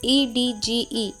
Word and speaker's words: edge: Now the rule is D is often silent in the combination of DG. अब examples देखिए, EDGE, edge, edge नहीं edge,